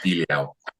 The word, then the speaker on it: Diljá: Her name is pronounced Diljá, and she is performing 7th immediately before Greece in the second semi-final on the Thursday evening.